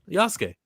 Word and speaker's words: Yasuke: Is it Yasuke or Yasuke? Yasuke. Yasuke. It's Yasuke. Okay.